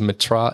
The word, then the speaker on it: Metras: My last name is Metras, Metras. The S is silent so because we'll it is have French.